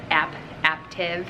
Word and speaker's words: Aaptiv: the information for active it's spelled a a PT IV so it kind of sounds like active but you say like app active instead of active and I'll have the